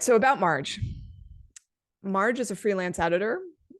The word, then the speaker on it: Marj: Marge is reminding me her name is pronounced like March thank you for that all right so about Marge Marge is a freelance